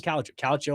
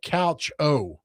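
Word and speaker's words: calcio: Calo and Italian is soccer. Spell that. C A L CIO. That's it. Yeah. I thought it was like couch o. No. No. That's the pronunciation.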